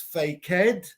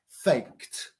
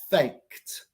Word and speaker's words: faked: past tense are fake is not pronounced fake head it's pronounced faked faked Aura boys so in